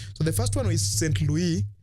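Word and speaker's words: Saint-Louis: So the first one is Saint Louis, that is the right pronunciation in French, Gori, Dakar, and Rufisque.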